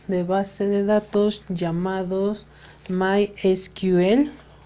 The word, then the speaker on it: MySQL: base de datos llamados my esquivel o como a veces muchos lo pronuncian como mysql este equipo está conformado